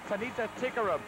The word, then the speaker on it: Tanita Tikaram: The pronunciation of her name even gives the British a run for her name. It's Tanita Tikaram.